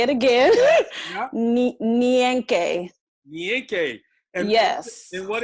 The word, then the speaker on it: Nyenke: It is Nyenke. Uh-huh. I'll say it again. Yeah. Nyenke.